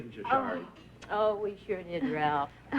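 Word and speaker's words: sari: sorry you say essay you spell it s-a-r-i but you pronounce it sorry to fool people uh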